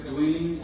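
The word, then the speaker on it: Duane: Next we have Dwayne, is it? State your name and spell it for the court reporter. Hi, my name is Dwayne.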